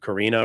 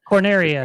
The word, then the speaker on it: Corneria: that, like you said, the first level of Karina or whatever, however you pronounce that. Corneria.